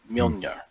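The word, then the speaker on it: Mjölnir: Mjolnir. Oh, that's the Danish way to say it, because all the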